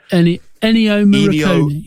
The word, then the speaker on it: Ennio Morricone: I literally Googled how to pronounce it. Ennio Morricone.